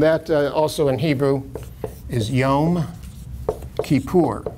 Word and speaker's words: Yom Kippur: And that also in Hebrew is Yom Kippur. I know people pronounce it in various sloppier ways than that, Yom Kippur and Yom Kippur, and, but it's Yom Kippur, and it's a day of atonement.